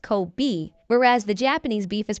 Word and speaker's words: Kobe: The only difference is that Kobe's name is pronounced Kobe, whereas the Japanese beef is pronounced Coobe.